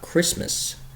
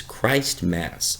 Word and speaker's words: Christmas: It's not Christmas, it's Christ Mass, and there's a reason for that, because it's Jesus' birthday.